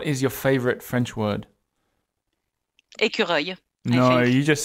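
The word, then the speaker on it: écureuil: is a really hard word for French people to pronounce when they're speaking English. Awful. Yeah. Squirrel. How do you say Ecureuil? Ecureuil. Ecureuil.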